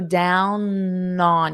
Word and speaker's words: down on: So down on you'll hold out that N and it's in the present continuous because it's taking place now.